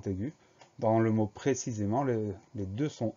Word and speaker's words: précisément: Donc la seule vraie chose qui doit retenir notre attention, c'est le T muet à la fin de précisément, précisément P-R-E accent aigu, C-I, S-E accent aigu, M-E-N-T.